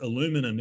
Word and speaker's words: aluminium: glad about that because aluminium is pronounced aluminum in the United States so we would have